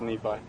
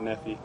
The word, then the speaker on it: Nephi: say it so yep it's nephi is that something that gets mispronounced a lot yeah a lot of people go with neffy yeah kind of roll